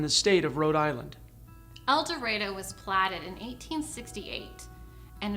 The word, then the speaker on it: El Dorado: river and the old california road the term el dorado means golden land and certainly in some parts of the country they pronounce it el dorado but here we call it el dorado